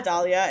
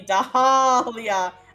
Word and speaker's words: Dahlia: My name has a silent H in it? Yeah, Dahlia. It's after the A and before the Leah.